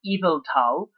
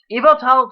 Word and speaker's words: Yveltal: to be Y version, Yveltal, which, yeah, this is like, that weird Norse mythology thing, having a Y that's pronounced like an I.